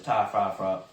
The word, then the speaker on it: Ty Fryfogle: That's a hard name to pronounce. His name is Ty Fryfogle.